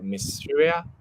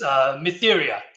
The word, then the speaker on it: Mytheria: So without further ado, let's welcome the first project to start, which is the Mysteria. Hope I pronounced it right. But yeah, feel free to start when you're ready. Hello there. It's Mytheria.